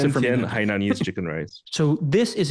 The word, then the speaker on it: Hainanese: Okay, well, pronounce it for me. Hainanese chicken rice.